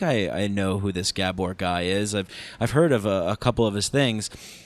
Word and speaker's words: Gabor: stickler for pronunciation and in Hungarian the emphasis is always on the first syllable of a word uh and the A's have accents over them properly so Gabor mate uh